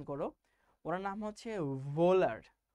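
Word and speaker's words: Wöhler: ভোলার, ওনার নামটা কিন্তু ভোলার না। আবার অনেক বইতে লেখা আছে হোলার, ওনার নামটা হোলারও না। সবাই আমার সাথে সাথে উচ্চারণ করো, ওনার নাম হচ্ছে ভোলার। হ এবং ভ এর মাঝামাঝি কিছু একটা, ফ্রেডরিক ভোলার।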